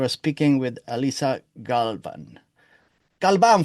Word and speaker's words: Galvan: Galvan for the Spanish-speaking friends.